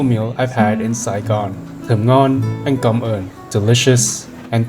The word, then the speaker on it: thơm ngon: Thơm ngon.